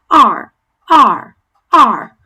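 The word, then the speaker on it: 二: might think it's and it's not really arm, R, R, it's kind of like your throat is narrowing a little bit. Any Arabic speakers tend to be good at this. You guys have sounds that are a little similar to this.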